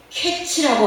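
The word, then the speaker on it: קץ: 여름 과일을 카이츠라고 하고 끝이라는 말을 캐츠라고 하니 카이츠, 캐츠 비슷한 발음으로 하나님께서 말씀하신 것입니다.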